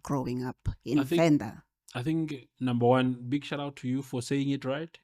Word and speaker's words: Venda: How has it been for you as a child growing up I in think Venda?